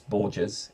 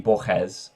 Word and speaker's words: Borges: pronounce his name right the name looks like it's pronounced uh Jose Luis Borges it's probably pronounced something more like Jose Luis bojes or something like that um but he gives